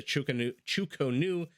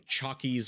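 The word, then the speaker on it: Chu Ko Nu: Now, that unique unit, as I mentioned, is the Chukonu. I've heard it pronounced about 17 different ways, anything from Chockies or Chuckies all the way to Chukanus.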